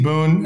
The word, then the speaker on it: Boon: and then with agency Boone um it's agency Boone b-o-o-n which is an English word that means a timely gift or blessing but it also is the pronunciation of the word good in Romanian um and they can